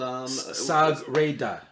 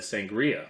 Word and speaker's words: Sagrada: I can't count the amount of people that have said sangria, which I love sangrias Sangria's as great. well, but not the name of the game.